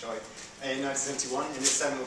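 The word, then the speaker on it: Chua: It's a Malaysian name so it's pronounced choy in 1971 in his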